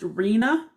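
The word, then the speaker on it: RHNA: called the regional housing needs assessment and it's pronounced arena it involves three levels of government at the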